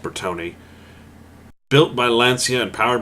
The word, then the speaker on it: Bertone: Yes, it's pronounced Bertone.